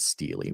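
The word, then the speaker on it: stele: Somebody in the chat says, "Oh, you should pronounce it steelely."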